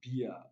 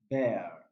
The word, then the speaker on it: bear: is the correct answer this word is not pronounced as beer it is pronounced as bear coffee no fear no